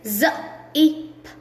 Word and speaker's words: zip: It's not jip. It's when the sound of Z is z. Then it is z, ip, zip, z, z, ip, z, ip, zip, right?